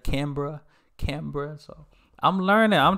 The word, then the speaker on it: Canberra: uh yeah I think Canberra I was saying Canberra instead of Canberra Canberra so I'm learning